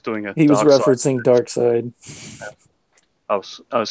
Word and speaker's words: Darkseid: He was referencing Darkseid.